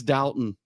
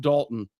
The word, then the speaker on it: Dalton: It is Dalton. It's not Dalton. It is Dalton.